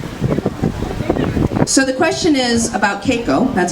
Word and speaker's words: Keiko: So the question is about Keiko, that's how it's pronounced, about comparing Keiko to Lolita and that comparison and how do I feel about it.